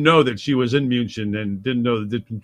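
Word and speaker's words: München: was a great game in Munich yeah or Munchen actually is how they pronounce it but we call it that's right I've been there moonshin exactly remind me to talk to you about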